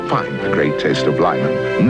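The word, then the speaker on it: Lymon: Pronounced Lyman as in great lon taste.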